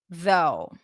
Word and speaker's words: though: so tough right not soft tough and though though despite though he looked a little tough though